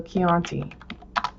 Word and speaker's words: Chianti: So Chianti, let's see if that's, isn't that, to get that K sound, you use the H. So Chianti. To get that K, you use CH.